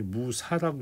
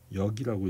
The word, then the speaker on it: 무역: 그래서 여러분들이 잘 헷갈리는 게 이게 무사라고 읽지 않고 무역이라고 읽어야 돼요.